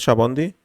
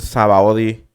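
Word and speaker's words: Sabaody: el cheve como unos yo le trato de decir a shabondy como se escucha en japonés shabondy y algunos le dicen sabaudi porque así se escribe no sabaudi con con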